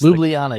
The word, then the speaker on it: Ljubljana: I'm not pronouncing that right. That's Ljubljana.